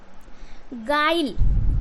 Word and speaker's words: guile: जैसे बोल देखिए यहाँ पे गाइल, क्या है, GUILE, गाइल। अगर आप इस यू का उच्चारण करते हैं तो ग्यू आइले, ग्यू आइल पढ़ने, इसका मतलब यू क्या है यहाँ पे साइलेंट करना है, तो क्या करना है, गाइल।